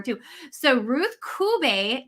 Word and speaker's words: Cube: to get that one wrong too so ruth kubay wonderful and kube that that is uh